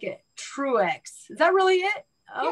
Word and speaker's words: Truex: Just like it's spelled. You're kidding. And I noticed you're a she, her. It's like true. Yeah, I'm PC. True. Woke. Okay. I like it. Truex.